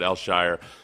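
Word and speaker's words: Al-Shaair: the the way the announcers say it is El Shyer uh so aiz eler Elshire yeah Elshire something along those lines the pronunciation guide was no help to me but the uh the actual announcers pronounce it Elshire so I I'm very very fine with Al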